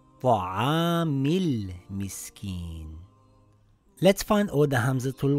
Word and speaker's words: طَعَامِ ٱلْمِسْكِين: Now, when we read it together, we drop the Hamzatul Wasl. It now reads Ta'amil Miskin.